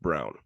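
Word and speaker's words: Braun: year is brawn it's spelled Brawn but it's pronounced Brown oh that is him that is first round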